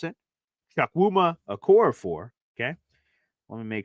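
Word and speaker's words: Chukwuma Okorafor: out to my New England Patriots people so chak wuma okoror is how you pronounce it chak wuma aor for okay let me make sure I get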